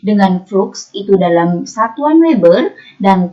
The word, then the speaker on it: Weber: Oke, ini bacanya Weber.